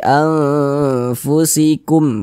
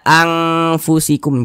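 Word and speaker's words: أنفسكم: Cara membacanya tuh disamarkan kemudian juga didengungkan. Karena dia awsat maka kadar samar dan kadar dengungnya pun dia di tengah-tengah, seimbang, begitu. Kita baca fi anfusikum, begitu. Jangan dibaca anfusikum, jangan.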